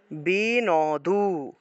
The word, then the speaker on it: বিন্দু: এর নিচে হসন্ত আছে হসন্ত থাকলে একসাথে উচ্চারণ হয় একসাথে উচ্চারণ আর এখানে হসন্ত নাই